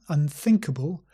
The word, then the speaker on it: unthinkable: after me unthinkable unfavorable and also remember unthinkable we pronounce think with a sound so we gently put the tongue between the teeth think unthinkable more on